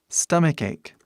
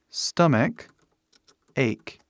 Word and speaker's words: stomach ache: Stomach ache, né? Faz som de K as duas vezes.